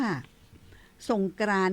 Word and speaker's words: สงกรานติ: เพราะ ฉะนั้น แล้ว ก็ ใน ภาษา สันสกฤต นี้ เปิ่น อ่าน ว่า สงกรานติ ติ นี่ มี ติ ด้วย นะ เจ้า เป็น